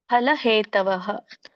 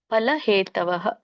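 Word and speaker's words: ಫಲಹೇತವಃ: ಬರಬೇಕು ಅಲ್ಪ ಪ್ರಮಾಣದಲ್ಲಿ ಕೃಪಣ ಫಲಹೇತವಹ ಫಲ ಬರೋದಿಲ್ಲ ಪ ಅನ್ಬೇಡಿ ಪ ಫಲಹೇತವಹ ಸಣ್ಣಪ ಅಂದ್ರೆ ಪ ಬರುತ್ತೆ ದೊಡ್ಡಪ್ಪ ಪ ಅಂದ್ರೆ ಪ ಫಲಹ ಫಲಹೇತವಹ ಫ ಅನ್ನಂಗಿಲ್ಲ ಫಲಹೇತವಹ ಸರಿ ಇದರದೊಂದು ಅರ್ಥ ನೋಡ್ಕೊಂಡು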